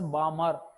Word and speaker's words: Balmer: So here the letter L is silent in pronunciation. It is pronounced as Balmer.